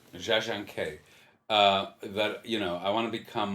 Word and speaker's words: Jia Zhangke: Well, what it made me feel is the how do you pronounce the director's name? Jia Zhangke. Jia Zhangke.